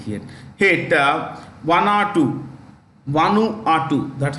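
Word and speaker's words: Vanuatu: should be hit H here hit one or2 one R2 that's how you pronounce it wanu R uh a 7.3 magnitude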